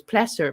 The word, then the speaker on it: Placer: on every platform and said it's pleasure pleasure not placer pleasure pleasure okay pleasure there we go a happy pleasure pleasure okay it's pleasure callers can remain anonymous